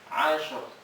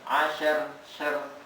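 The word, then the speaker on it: عصر: Walayalin Ashr. ashr. Tapi rohnya jangan asher, enggak. Ashr. Jangan asher, jangan tambah e. Kalau asher itu ditambah e.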